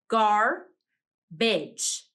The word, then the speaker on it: garbage: I hear 2 syllables in garbage. Gar-bidge.